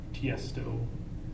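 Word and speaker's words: Tiësto: was an artist like tiesto yes ts toe it's uh he's an electronic condition can you spell it t-i-e-s-t-o so the name is tiesto it's not initials it's tief stuff yes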